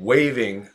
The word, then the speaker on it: waiving: Not spelled the way you would if you said waving my arm, okay? This waving, pronounced the same way though. Trump might waffle on waiving the requirement, the requirement.